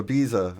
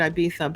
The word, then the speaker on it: Ibiza: Ibiza Spain yeah or Ibiza oh no you're saying it correctly they say it I'd be thumb but it's spelled Ibiza right right so over